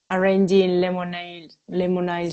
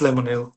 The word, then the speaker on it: Lemonille: And what's your creative process when writing, producing, and arranging Lemonade songs? It's Lemonille. Lemonade, sorry.